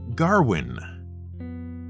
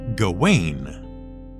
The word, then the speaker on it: Gawain: who was being addressed to our ears it sounded like garwin even though for years we thought the proper pronunciation was gawain was this just filmmaker